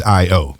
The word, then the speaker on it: i_o: lot going on in there and the proper pronunciation is i o i oh yeah okay very cool so tell us a